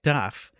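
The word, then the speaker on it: תו: taf, but that's also the name of the letter tau in modern Hebrew. It's pronounced taf.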